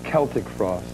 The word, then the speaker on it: Celtic Frost: Finally, I found out it is Celtic Frost. That's the right way to say yeah, it, that's right?